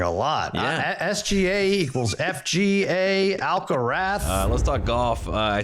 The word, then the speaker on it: Alcaraz: You pronounce it in Spain, Alcarath. Uh, so everyone in Spain is saying it's the Alcarath uh that is coming right now.